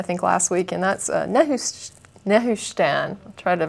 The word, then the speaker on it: Nehushtan: So we'll just hit this one that I mentioned, I think, last week, and that's Nehushtan. I'll try to pronounce that. Is that near Pakistan? Yeah, Pakistan. No, it's Nehushtan.